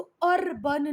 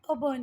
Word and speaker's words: urban: अर्बन का मतलब होता है, बस इसको अर्बन नहीं बोलते हैं, ये अबन है। क्या है? अबन है। और अबन बच्चा क्यों है? क्योंकि जब भी आर किसी वावल के बाद आता है तो आर का प्रोनाउंसिएशन नहीं होता है, तो इसका प्रोनाउंसिएशन है अबन।